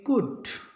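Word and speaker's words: could: कि इसमें L silent CO यू एल डी एल के बाद डी है इसका मतलब इसको पढ़ेंगे कुट और डब्लू यू एल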